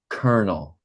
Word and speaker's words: colonel: It's colonel, Colonel. colonel, Colonel. colonel, Colonel. colonel. Colonel. And this is how we pronounce it right here.